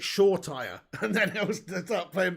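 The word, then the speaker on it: Shoretire: young she says pig you need to start pronouncing it shaw tire and then he'll start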